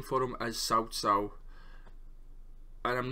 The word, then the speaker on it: Cao Cao: advent so in this game they call them cow cow but the correct pronunciation for him as southsau and i'm not gonna pretend i'm gonna get